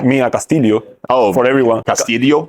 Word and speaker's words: Castillo: they pronounce it like Castillo, and they say by the phone or everything. Yeah. Mia Castillo. Like, I'm not Castillo, I'm Castillo.